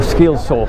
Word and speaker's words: Skilsø: at their 39 fly or skilla as I think it's actually pronounced we will have a